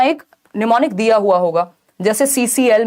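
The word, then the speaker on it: mnemonic: एम से शुरू होता है, एम साइलेंट है, तो ये निमोनिक है।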